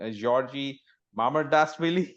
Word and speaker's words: Georgi Mamardashvili: Georgi Mamardashvili. Is that correct? Yes, 100% correct.